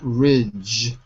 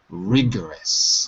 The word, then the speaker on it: rigorous: first rigorous rigorous yeah not not Ridge okay it's a hard G rigorous rigorous good second when